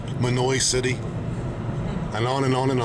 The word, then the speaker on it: Mahanoy City: Mahanoy City is pronounced Manoy City.